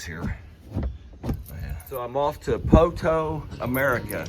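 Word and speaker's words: Poteau: Um, yeah, we're on our way to Poto, Oklahoma. For those of you nonokeies, that's pronounced Poto, but it's spelled P O T E AU.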